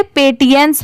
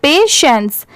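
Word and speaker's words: patience: अब जैसे देखिए अगर जिनको नहीं आता पढ़ने वह इसे पेटियंस जरूर पढ़ेंगे क्योंकि जो लिखा हुआ है वो एग्जैक्ट इसी को प्रोनाउंस करने की कोशिश करेंगे। बट नहीं इसकी प्रोनाउंसिएशन है यहां पर पेशेंस।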